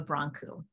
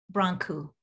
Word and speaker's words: Brancu: us your name yeah so it's dr mira bronco beautiful and and brown q what did i say it correctly say it one more time bronco a bronco bit difficult yes um uh what